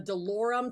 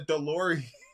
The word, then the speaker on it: DeLorean: holy it's a DeLorean DeLorean not a DeLorean oh that's close enough